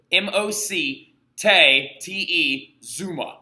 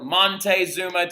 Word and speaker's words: Moctezuma: It's Moc, M-O-C, Te, Zuma. So Moctezuma, right? Mocte or Montezuma, depending on who you ask or how you want to spell it. You can spell it either way. It might pop up on the test as either or. So if you see Monte or Mocte, it's the exact same thing, okay?